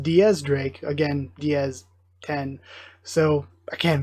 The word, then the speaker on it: X Drake: like heavy Christian themes to that and then Diaz Drake has his name is stylized as Roman numeral 10 the X Drake but it's pronounced Diaz Drake again Diaz 10 so again very cool I